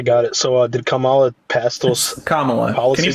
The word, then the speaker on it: Kamala: you try to pronounce her name right it's pronounced Kamala try again the immediate crash out is wild